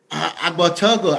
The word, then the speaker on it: Agbortogo: Agbortogo.